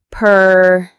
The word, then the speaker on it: pernicious: Pernicious. The stress is on that middle syllable.